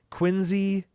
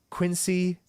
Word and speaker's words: Quincy: 1948 in Quincy Mass which is pronounced like a z Quincy not Quincy I don't know if